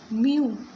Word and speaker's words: mu: It's pronounced as mu.